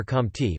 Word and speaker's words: Comte: Isidore Maria goosed francois xavier compte pronounced moist katie listen the 19th of January 1798